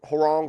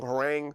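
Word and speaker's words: Hwoarang: up now there there's different levels of Harang herang however you want to say I don't know this one's going to correct me he name is herang and going to spell it out F fanatically screw you but with herang or herang herang I'm going to say herang I'm going I say Harang because of Tekken three I don't know if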